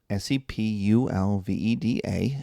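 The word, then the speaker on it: Sepúlveda: And then Sepulveda, Sepulveda, accent on the U, gets up.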